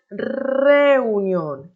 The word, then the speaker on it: reunión: Recordando que tenemos que marcar la pronunciación de la R. Decimos reunión, reunión.